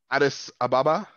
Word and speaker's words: Addis Ababa: it is uh um based on is it addis ababa am i pronouncing it correct that's right um in ethiopia